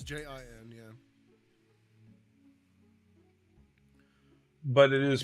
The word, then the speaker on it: Jin: It's Jin, yeah. But it is It's pronounced like Gene, yes.